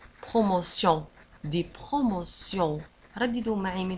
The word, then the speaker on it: promotion: ولاحظوا على أن بروموسيون في آخر الكلمة نجد تي إي أو إن إس وتنطق سيون. Promotion, des promotions.